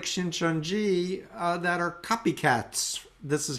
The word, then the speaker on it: Shincheonji: Shincheonji, it's Korean name, so we pronounce Shincheonji in English.